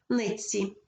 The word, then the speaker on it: нитці: стають свистячими ось наприклад нитці у слові нексі Т піддається впливу свистячому ціль і вимовляється як один подовжений звук ц нитці і у слові кусається